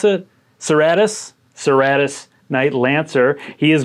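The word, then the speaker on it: Cerastus: Heading with my warlord is going to be the Knight Lancer, the Seratas, or how do you pronounce it? Seratus.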